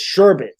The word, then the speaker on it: sherbet: not what it is there's no r it's sherbet say it she's like